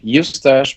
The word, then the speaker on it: Eustache: a how do you say it yes dash you stash because seeds of like new stash with an